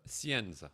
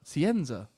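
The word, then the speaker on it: Scienza: I don't know Le I don't really know how to pronounce Leo's second name. I our other new spicy midfielder. Sienza. Sienza.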